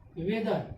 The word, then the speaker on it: whether: ठीक, W के बाद क्या आ गया H आ गया, H हो गया साइलेंट तो क्या बचा वेदर, वेदर का क्या, WETHER,